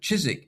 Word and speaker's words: Chiswick: the other is Keswick is that Chiswick is the classic English change from k to ch. And in the north, thanks to the Vikings and bringing the Scandinavian pronunciation, cheese stayed with a with a hard K sound.